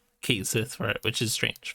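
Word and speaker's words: Cait Sith: Oh hey, it's a Ket-Shi, except for it's not, because I'm pretty sure the actual pronunciation is Kate Sith for it, which is strange, but it's fine.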